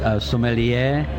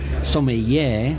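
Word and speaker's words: sommelier: that means wine expert the word is somebody air but over here they have a different pronunciation I think they call them so many yay and that doesn't give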